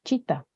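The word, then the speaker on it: citta: órgano de nuestro cuerpo en pali la palabra paramento es Chita que se escribe cita pero se pronuncia Chita y la función de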